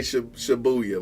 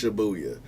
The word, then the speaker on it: Shibuya: Have you ever heard me say Shibuya? You ain't never heard me say Shibuya. My bad, it's Shibuya.